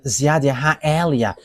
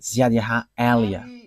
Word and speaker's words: Ziadiaha Elia: that is my name, so I pronounce it as my father pronounced it, Ziadiaha Elia.